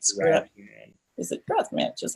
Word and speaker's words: Radzan: Is it Radzan? Just like it sounds. I mean, just like it's spelled.